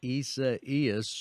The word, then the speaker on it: Isaias: pronunciation for ece is if you say buenos dias first then you can is kind of just flows off your tongue it does i have